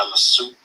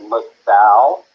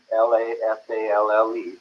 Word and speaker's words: La Sal: they were in the South Mesa area by La Soup. I'm not sure how it's pronounced. La Soup Road? It's called La Salle. La Salle is the mountain, Lasale.